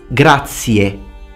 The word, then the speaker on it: grazie: Grazie. E. Not A, like actually many dictionaries tell you to pronounce. Like, it's funny, these dictionaries, the Italian dictionaries for English-speaking people that use English phonetics, but it doesn't work because it tells you to say grazie.